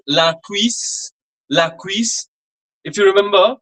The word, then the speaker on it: cuisse: Okay, so the pronunciation is a little different. It's V. It's a very fine pronunciation. V. Quiz. Quiz. Okay, like V. Like this way we pronounce it. Okay, it's quiz. Quiz. Try to follow the position of my lips.